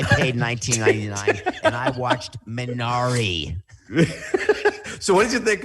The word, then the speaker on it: Minari: ask you about minari which has been incorrectly pronounced minari many of us thought it was that case but i saw the director liaison chunks he pronounced minari you would message me